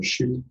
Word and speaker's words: CHU: Pivotez vers la gauche, tendez le bras droit, faites le son CHU sans prononcer le T comme chute sans prononcer le T.